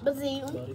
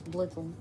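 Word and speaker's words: Blitzle: Bazoo. No, it's Blitzel.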